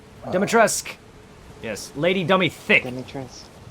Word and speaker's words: Dimitrescu: Lady Dimitrescu, just like Zamas's name, her name doesn't pronounce the U. Dimitrescu.